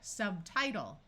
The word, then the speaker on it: subtitle: This I is going to have its long I sound. Subtitle.